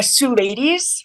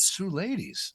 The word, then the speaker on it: Suleidys: say your name uh Sue ladies like Sue and ladies Sue ladies oh that's beautiful ladies